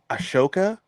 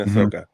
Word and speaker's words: Ahsoka: So I'm watching Ashoka. You mean Ahsoka? Is that how you pronounce it? Yeah, it's Ahsoka.